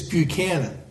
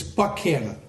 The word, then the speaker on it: Buchanan: of the south because in the north it's Buchanan you crossed the mason-dixon line it's buck Hannah okay so if you're